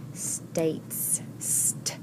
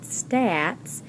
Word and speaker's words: states: Here's our T, A, T, E, S, states, eight. Remember the E is silent, but it is making this A say its second sound. So it's not United Stats, it's United States.